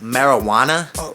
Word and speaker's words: marijuana: First of all, it's pronounced marijuana.